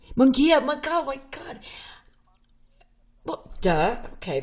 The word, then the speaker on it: Mungia: I am having a great conversation with writer, filmmaker Lance and Mungia. And so I pronounced your name wrong. Mungia, my God.